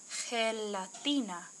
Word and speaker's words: gelatina: Sí, es gelatina. Gelatina uses the soft G.